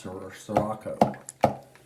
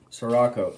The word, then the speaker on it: Sirocco: Sirocco, Sirocco. That sounds like sriracha.